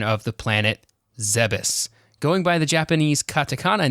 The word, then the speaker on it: Zebes: pronunciation of the planet zebus going by the japanese katakana name of zebes it should be pronounced as ze as in zelda bess or beth that's because there is